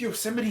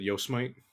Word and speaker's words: Yosemite: However, Bro, we fucked with Yosemite Sam? I'm not gonna lie, I was really tempted to pronounce it Yosemite.